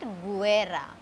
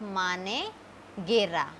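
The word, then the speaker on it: manguera: We will not say it Guera. We will say it Mane Gera.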